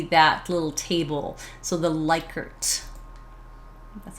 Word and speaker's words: Likert: So the Likert.